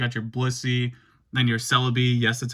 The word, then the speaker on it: Celebi: You got your Blissey, then your Celebi, yes, that's how you pronounce it.